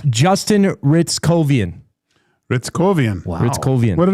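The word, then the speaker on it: Hryckowian: I found the pronunciation. Perfect. It's Justin Ritzkovian.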